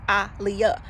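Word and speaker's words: Aaliyah: Ali, she said they was asking her how to pronounce her name, and she said, like Muhammad Ali, it's Aliyah.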